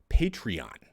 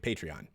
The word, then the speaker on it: Patreon: ahead and launch a Patreon. I believe. I don't ever really talk about it, but I'm pretty sure that's how you say it. Patreon. Patron. Maybe I'm getting that confused with the alcohol.